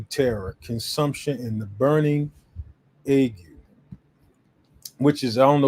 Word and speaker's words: ague: That's how it's pronounced, the burning ague that will consume the eyes and cause sorrow